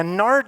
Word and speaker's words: nard: Now, nard doesn't sound very good to us, right? It rhymes with lard.